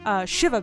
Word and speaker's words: shiva: Pronounced Shiva. It's a Jew thing.